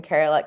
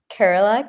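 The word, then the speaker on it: Kerala: Um my I told you that my my family is from Carerala.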